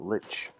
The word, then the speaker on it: lich: Is it lick? Is it leash? Is it lich? I've heard it pronounced all three ways. I'm actually not entirely sure what the correct one is. It's Lich.